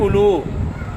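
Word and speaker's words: أولو: इसको पढ़ना है उलू इसमें यह जो वाव है ना इंग्लिश वाले कहते हैं साइलेंट यह वाव साइलेंट है जी यह पढ़ी नहीं जाएगी लिखी जाएगी अगर पढ़े तो क्या पढ़ेंगे लू ये गलत हो जाएगा ठीक है ना जी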